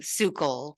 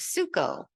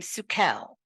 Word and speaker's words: Sukel: am sule um the pronunciation of the name was changed after we moved to Florida that was my mom's decision and she said it people had a hard time pronouncing suul because of the L on the end they thought it was suko so it became sukel and that's the way